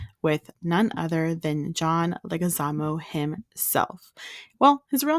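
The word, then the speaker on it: Leguizamo: I came across with none other than John legaz himself well his real name is actually pronounced John leis but he pronounces it wrong on purpose you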